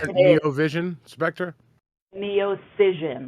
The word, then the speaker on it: Neocision: So Neocision Spectra is the Neocision. yeah. That is a mouthful. Neovision Yeah. or It is. Neovision Spectra? Neocision with a C. Neocision. Okay. Like incision, but a Correct.